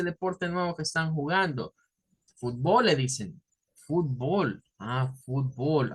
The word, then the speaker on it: fútbol: Y las palabras en español se deben de tildar en su mayoría, sobre todo de estas que su fuerza de voz está en la primera sílaba. Entonces, esto es fútbol, así.